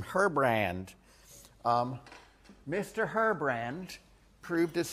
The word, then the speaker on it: Herbrand: guy named ER BR he's French so I can mispronounce his name horribly everyone calls him herbrand um Mr herbrand proved